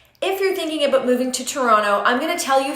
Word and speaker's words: Toronto: Number 1 is how you pronounce Toronto. It's Toronto, not Toronto. So I hear people making that mistake all the time. I'm sure you've heard about this, but we say here in the city, Toronto.